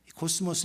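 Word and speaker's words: κόσμος: 코스모스 이 발음, 그래서 모든 세상 질서를 얘기하고 있어요.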